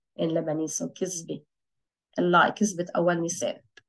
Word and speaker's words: كذبة: The is pronounced as a z in Lebanese, so كذبة, a lie, كذبة أول نيسان.